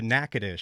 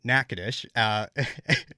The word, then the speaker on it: Natchitoches: I mean, you went over to Natchitoches for your story, which, first of all, great job pronouncing Natchitoches.